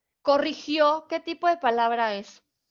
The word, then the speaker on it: corrigió: Aguda, es una palabra aguda, corrigió. Recuerden, corrigió. ¿Ok? Tiene su sílaba tónica en la última sílaba.